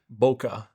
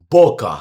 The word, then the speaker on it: Boca: All right, Davidson Boca de Souza. You know it. I said it right? Boca. Boca. Yeah. And De Souza was good. I said de Souza right? Usually people say De Souza. Okay, that's what I was doing before.